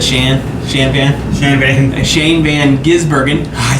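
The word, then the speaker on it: Shane van Gisbergen: say his name I said Shan Shan van Shane Van gizbergen I said it right there you go and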